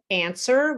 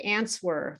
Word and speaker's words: answer: Uh, answer. We don't say answer. Many of my students try to say that W, but we don't.